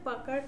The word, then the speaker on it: Pucker: টুলের পরে কি আছে পাকার টুল এরপরে আছে ব্লড টুল পাকার এবং ব্লড এই দুইটা আমরা একসাথে দেখব অনেকে পাকার বলে অনেকে পোকার বলে একেকজন একেক রকম উচ্চারণ করে যে যেমনই উচ্চারণ করুক